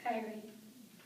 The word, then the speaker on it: Kyrie: But my mom chose to use the Russian pronunciation, Kyrie.